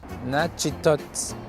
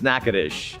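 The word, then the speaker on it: Natchitoches: of zeus a goddess nachitos nachatuches nachotochis nachotocus it's nakadish i know it's very difficult to look at and try to pronounce but it's a beautiful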